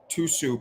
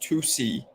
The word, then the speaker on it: tusi: know what I'm saying tusu pronounced tusi is a popular drug used by celebrities